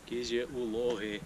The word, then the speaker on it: Kizi-Uvlohy: Prawie dochodzimy do kotła Kyzy Lochy, jeśli dobrze to wymawiam, a jeśli źle to wymawiam, to Jura to dobrze powie. Kyzy Lochy.